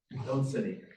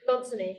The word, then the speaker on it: Lonsini: How do I pronounce that? Lonsini. Lonsini. Yes, And Lonsini.